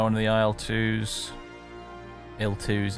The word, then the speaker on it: IL-2: of the aisle twos l2s it's supposed to be pronounced L2 that's why the it's not Capital IL it's capital I lower case L2 just sounds weird in English to pronounce it that way obviously um yeah foreign